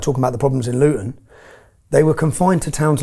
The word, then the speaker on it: Luton: Luton, we don't pronounce our T's in Luton, but Luton is 30 miles north of London.